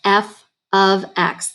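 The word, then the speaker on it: f(x): see it right here this does not mean f times x this is pronounced f of x the f stands for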